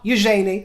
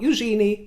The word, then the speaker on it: Eugenie: pronounce it which is the way that I pronounce it usually not Eugenie I don't care what the French or any